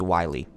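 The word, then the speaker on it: Whaley: toughness in columbus so i heard her pronounce her name it's wiley um that's the ad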